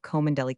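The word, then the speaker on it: Cholmondeley: His name and style being the honorable Kirkidbright Lenover Margerabank sellers Vikount Berkeley of Kandelli Castle Warikshire pronounced Kubri th Lenover Marshbank sellers Vikount Barkley of Chumley Castle Warikshire.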